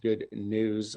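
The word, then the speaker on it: Good Gnus: uh and that's pronounced good news like uh like it sounds but spelled gnus bill is a marketing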